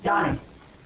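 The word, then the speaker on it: jnani: Pronunciation. Yanni? Yanni.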